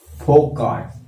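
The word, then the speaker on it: Foucault: हैं जिनका नाम है FOUCOU LT, फोकाट, क्या बोलेंगे उनको, जिनका एल जो है साइलेंट है।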